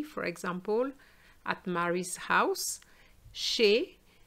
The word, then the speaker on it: chez: example at mary's house she the zed is silent and we have the sound a in fact if we pronounce the zed it becomes shays and ches means a